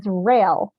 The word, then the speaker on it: Rayel: So most people think my last name is pronounced Rayel, but it is Rayel, like commuter rail.